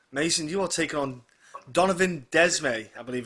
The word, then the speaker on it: Donovan Desmae: Mason, you are taking on Donovan Desmae, I believe it's pronounced, at Cage Yeah.